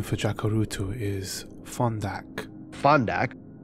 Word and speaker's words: Fondak: Fondak. This originates from an Arabic word pronounced funduk.